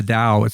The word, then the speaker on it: Tao: And so the reason he talks about the Tao, it's pronounced with a D sound rather than a T Tao sound.